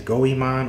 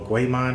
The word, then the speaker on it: Goemon: We have the return of Richard Epcar as Jigen, the return of Lex Lang as Goemon, or Goemon, how you want to pronounce it, Michelle Ruff as Fujiko Mine, and of course we have some new characters.